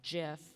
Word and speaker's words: GIF: It is said that GIF is pronounced with a soft G, so it's like GIF, like the peanut butter.